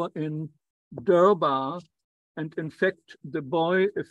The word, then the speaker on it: Darbar: the English Hindi dictionary the word Darbar and its pronunciation durbar so no longer the normal pronunciation so in the English language this is called derba but it means the